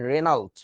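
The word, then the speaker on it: Regnault: এ ইউ এল টি তো উচ্চারণটা জি silent so উচ্চারণটা হবে হচ্ছে রেনাল্ড হ্যাঁ এই আর কি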